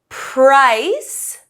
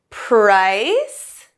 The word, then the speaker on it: price: price is silent and the e in prize is silent okay so price and prize